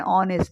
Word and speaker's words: honest: So whereas here an an apple an ink pot an eagle an orange an umbrella and honest. So here these are the os and your h is silent.